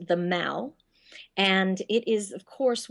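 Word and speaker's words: The Mall: the end is the the Mal you would read it as the Maul but it's pronounced the Mal and it is of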